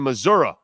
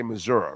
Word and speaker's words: Missouri: You do know you have to say Missouri, right? Because that's how they say it. You can't say Missouri. You gotta say Missouri. That's the way it's done, bro.